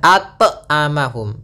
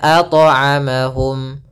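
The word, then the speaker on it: أطعمهم: Yang kedua adalah menambahkan hamzah, misalnya at'amahum. Nah, ini tambahan hamzah salah. Harusnya mengalir saja at'amahum.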